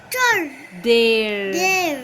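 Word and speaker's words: their: of e i a and the sound of r so t h e i r there there now what is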